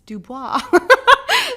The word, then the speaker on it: Dubois: And he's like, it's French. It's Dubois.